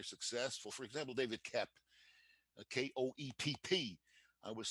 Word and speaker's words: Koepp: For example, David Koepp, Koepp. I was saying to him, he's so famous now that people actually pronounce his name correctly. They used to call him Cope.